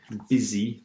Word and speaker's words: busy: Busy, this is the pronunciation, is it busy. I know it's strange.